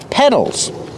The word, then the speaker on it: pedal: Use a short S sound like red and 10, pedal. And the fast D in the middle.